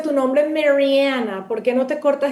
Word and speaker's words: Mariana: Mientras más sea yo, Mariana Tensio, la venezolana que llegó aquí como inmigrante, cuyo primer idioma es español, que pronuncia su nombre Mariana, que usa colores vivos, que tiene su cabello